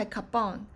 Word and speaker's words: 割烹: 而割烹的日文發音是 kabon，最早是出